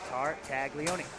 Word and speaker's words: Tartaglione: Save is made by Tommy Tartaglione. He wears number 1. Ironically, he has 4 syllables in his last name.